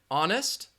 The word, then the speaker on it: honest: the D in Wednesday the H in honest the K in night